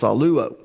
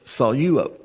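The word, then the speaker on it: σαλεύω: Normally, when you're pronouncing Greek, Koine Greek, you actually do the syllables according to the consonants. So many people will pronounce this saluo. But because there's a diphthong there with epsilon, upsilon, you take the lambda and you put it with the first syllable, okay? So it's saluo.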